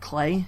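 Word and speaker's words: Klei: It was made by Brace Yourself Games, which, indie developer, but they had the help of, I think Clay is how you say it, the people who made Don't Starve or Mark and the Ninja.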